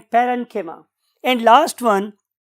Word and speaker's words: parenchyma: तो बहुत से लोग इसे कोलेनकाइमा भी बोलते हैं, बट the true pronunciation is कोलेनकीमा एंड पेरेनकीमा।